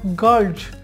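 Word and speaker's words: girls: এখানে এল পেয়েছি তাহলে এখানেও এস এর উচ্চারণটা হবে জেড এর মতো অর্থাৎ গার্লস উচ্চারণ হবে গার্লস আমরা বলি গার্লস ভুল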